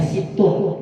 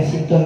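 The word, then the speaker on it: ستٌّ: Kalau di sini bacanya sitin, dalam syair yang lain bacanya situn, ya. Kita pakai situn aja. Namun baca sitin juga boleh, ya. Ada bacanya sitin, ada bacanya situn.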